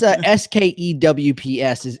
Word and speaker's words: Scoops: Somebody tried to type Scoops out phonetically. That looks like Joe. I think it's SKEWPS is the accepted vernacular.